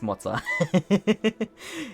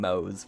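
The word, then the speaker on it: Moze: And that's also where I learned how to pronounce Motza. If I hadn't watched that video, I would still be calling him Mose, probably. Which Motza makes a lot more sense than just Mose.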